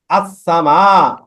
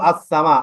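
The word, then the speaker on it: السماء: একটা বিষয় লক্ষ্য করেছেন দেখেন তো দেখেন এখানে আসসামা এখানে কিন্তু আসসামা আলিফ লাম আছে কিন্তু আলিফ লাম উচ্চারণ না হয়ে না আলিফ লাম আছে কিন্তু লামটা উচ্চারণ না হয়ে ডাইরেক্ট সিনটা উচ্চারণ হচ্ছে না আসসামা ইন্নায়ান্নাস সামা মানে লামের লামের কোন কিছু হচ্ছে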